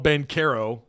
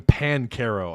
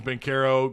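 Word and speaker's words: Banchero: pronouncing that right paul bencaro sounded me like they were calling him pancarro i i couldn't understand why they were pronouncing the b like a p but ben carroll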